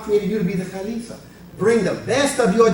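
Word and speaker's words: خليفة: When Allah created you to be the Khalifa, bring the best of your genetic inheritance all the way from Adam. Kha, lam, kha, la, fa, right? Khalifa. Bring it from the back.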